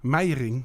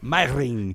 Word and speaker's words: Meijeringh: How did I do on the pronunciation of Meijeringh? Meijeringh. Meijeringh. Yeah.